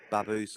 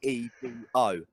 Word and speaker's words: Beebo: Oh, that thing, Baboos or whatever.